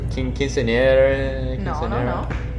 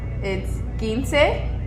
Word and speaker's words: Quinceañera: How do you pronounce it? Quinceanera? No. Wrong. It's Quinceanera. Quinceanera. But a little bit more emphasis on the r.